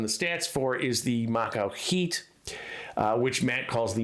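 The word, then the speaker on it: macuahuitl: stats for is the macho heat which matt calls the maca and by the way i looked it up and the l at the end is silent so the macro heat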